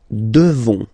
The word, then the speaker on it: devons: Nous devons. Okay, classic ending ONS for nous. Okay, you just pronounce this on, this nasal. Okay, and then the S, final S is not pronounced.